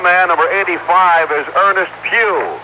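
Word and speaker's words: Pough: And the other man, number 85, is Ernest Pugh. It's P-O-U-G-H, but pronounced as the Pew in church, this being Sunday.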